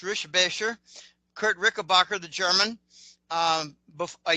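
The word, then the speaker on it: Richebächer: I've actually met Kurt Rickenbacker, which is actually pronounced Rischbecher.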